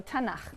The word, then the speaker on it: Tanakh: Tanakh, which is really the letters T, N, and Ch. And they put little A's in there to make it easy to pronounce, because it's hard to pronounce. So Tanakh, okay?